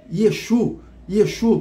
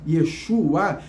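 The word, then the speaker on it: ישוע: Aí esse nome que você conhece hoje, Yeshua, esse A no final, né, que essa letra em hebraico, né, que ela tem a pronúncia de A, Yeshua, significa que o seu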